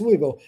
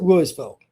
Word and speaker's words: Louisville: You may think, "Well, that's Louisville." They pronounce it Louisville. Welcome to Mississippi.